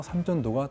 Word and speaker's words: 삼전도: 세종 때에 이르러서 이 일대에 삼을 심었기 때문에 한자로는 마라고 표현하지만 발음은 삼으로 해서 삼전도가 된 겁니다.